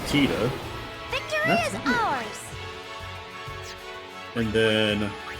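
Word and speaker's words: Tidus: but to be fair, in Final Fantasy 10, they never even say Titus's name. So, we have to learn from Kingdom Hearts that it's actually Teta.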